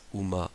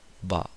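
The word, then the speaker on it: 馬: Pour le cheval, comporte 10 traits, peut-être prononcé uma, ba, ma.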